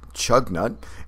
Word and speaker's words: Choconut: in our Northern regions whose pronunciations bear little resemblance to their spelling since strua looks phonetically like Stuka equino like equinunk and chug nut looks like choconut where famed Aviator Charles